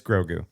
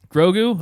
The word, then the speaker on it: Grogu: say his name i've never heard it it's grogu grogu okay it's goldberg i didn't know he was